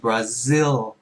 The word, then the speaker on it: Brazil: z yêu z yêu zil Brazil, hay là nếu phát âm chuẩn hơn thì Brazil.